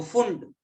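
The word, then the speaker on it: Pfund: Bracket Brackett series n बराबर 5 पर आ रहा है, तो फुंड पी साइलेंट है, फुंड सीरीज।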